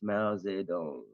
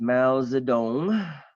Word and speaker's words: Mao Zedong: China has had since Mao Zedong mouths the don't and I'm pronouncing that correctly because I lived in China I know how to pronounce Chinese okay so since Mao Zedong you've got seven presidents